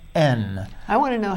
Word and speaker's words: Aisne: He just was in France, and he was in northern France in a town called Aisne. I want to know how it's spelled first. Well, Aisne is actually spelled A-I-S-N-E.